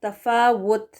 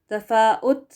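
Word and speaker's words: تَفَاوُت: से पढ़ देते हैं, ये देखें इसकी स्पेलिंग, तफावुत डब्ल्यू के साथ वो करेक्ट है, तफावुत वी लगा कर पढ़ना गलत होगा, तफाउत हमज़ा पेश लगा कर पढ़ना ये भी गलत होगा, वो वाली आवाज़ नहीं।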